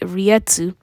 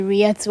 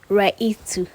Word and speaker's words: reiatsu: know how to say riatsu i used to say it right to or or rikex that's